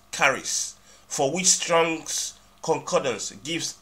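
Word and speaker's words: χάρις: as Grace is the Greek word Charis Charis pronounce carries for which strongs concordance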